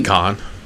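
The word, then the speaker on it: Cahn: C-A-H-N, Kane, we're going to call it Kane. Could be Con. Con's usually spelled with a K.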